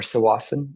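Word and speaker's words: Tsawwassen: and then moved to Towasan or Swasan it's sometimes pronounced.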